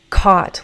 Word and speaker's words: caught: For me, words like caught, like I caught a cold, and sleeping on a cot, C-O-T, I don't always make a distinction. I say them the same quite often, caught.